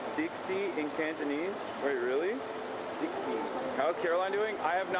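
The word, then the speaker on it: 的士: taxi is pronounced pronounced Dixie in Cantonese.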